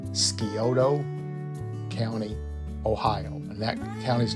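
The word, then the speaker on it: Scioto: she was born in and I hope I pronounce this right skiodo County Ohio and that County's name is spelled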